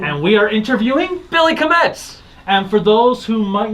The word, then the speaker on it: Kametz: You got a lot of Kametz.